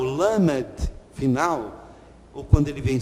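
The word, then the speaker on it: למד: Essa é a maneira oriental, a maneira semita, de pronunciar o lamed. Lamed, então, é esta letra que tem este som. Pode ser feito assim, né? Pode ser feito assim. Opa! Ele tem este formato e a pronúncia dele é esse L bem marcado.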